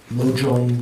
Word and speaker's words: Lojong: Lojong Sonja Korlo. It doesn't have the phonetics here, but that's how one would pronounce it.